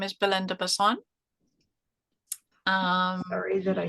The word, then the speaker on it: Basson: actual name is Belinda bassan um sorry that I said your name wrong no it's not wrong it's every accent says it differently it's quite interesting um I've been called Basin um yeah there's a